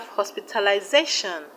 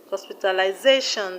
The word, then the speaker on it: hospitalization: We have hospitalization, hospitalization. The stress is where ZA.